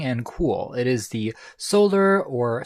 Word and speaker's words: Souler: It is the Solar, or Soleil, would be the French pronunciation, AI live speaker.